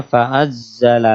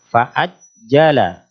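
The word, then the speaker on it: فعجل: Nah, tadi membacanya fa'azzala lakum. Fa'azza. Ingat huruf jim salah satu huruf yang kuat sehingga ketika ditasdid dia terhenti. Fa'ajjala. Fa'ajjala bukan fa'azzala.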